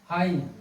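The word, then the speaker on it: high: ठीक है, यदि किसी शब्द के अंत में GH या GST दिख जाए तो GH प्रायः साइलेंट रहता है। ठीक है, देख लीजिए, जैसे जी एच, क्या हो गया? हाई।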